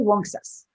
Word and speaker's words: Uncas: Am I pronouncing Uncas correctly? Well, that's also an interesting question, because the non-anglicized version, if that's what you're asking, is actually Wonksas.